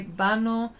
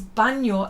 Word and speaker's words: baño: Traje de bano. Bano is baño, like as in banador.